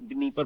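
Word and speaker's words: Dnieper: नीपर है तो उसे नीपर बोलते हैं, डी लिख देते हैं, डी साइलेंट बोलते हैं।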